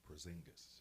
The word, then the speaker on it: Porzingis: Christoph Porzingis.